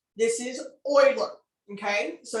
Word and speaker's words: Euler: in my east texan wants to name him euler but it is not this is oiler okay so it's pronounced spoiler but they did reference it with